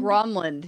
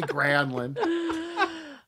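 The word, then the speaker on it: Granlund: gronland gronland and so Doc is like gronland and everyone's like what are you talking about and he's like look I asked him and then they went to granin and he's like don't ah don't even bother with that just call me granin oh man he's know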